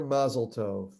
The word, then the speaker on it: Mazel Tov: So in America, you usually hear Mazel Tov. Yeah. In Israel, you would hear Mazal Tov because Mazal Tov is Hebrew, Mazel Tov is Yiddish. Okay. It's a Yiddish Ashkenazic pronunciation.